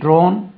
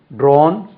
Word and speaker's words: drawn: drew past tense பாருங்க DREW drew drawn DRAWN drawn drawing DRAWING இந்த கேரளாவில் சொல்றாங்களே அந்த உச்சரிப்பு இங்க சேரும் drawing draw drew drawn drawing